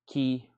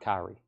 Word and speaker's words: Kyrie: The Kyrie song is pronounced Kyrie, not Kyrie.